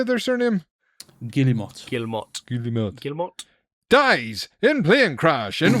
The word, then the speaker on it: Guillemot: Guillemot.